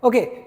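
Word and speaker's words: ans: इसे प्रोनाउंस कैसे करते हैं? ओ ओ।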